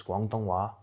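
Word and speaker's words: 广东话: Cantonese, or how you say it in Chinese, is Guangdonghua.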